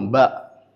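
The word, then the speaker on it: باء: Ensuite, nous avons ba ba par le rapprochement des deux lèvres.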